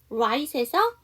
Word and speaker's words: right: 세 번째에 straight, I 뒤에 GH이기 때문에 GH 묵음. 또 있어요. right에서 I 뒤에 GH 묵음입니다.